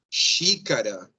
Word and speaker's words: xícara: Segunda, se a palavra começa por X, ou está acompanhada na primeira sílaba pela letra N, vai ter valor de sh, sim? Por exemplo, xícara, sim?